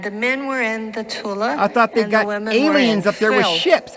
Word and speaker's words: Thule: negative usurped that line men were in the Tula society and yes that's how you say it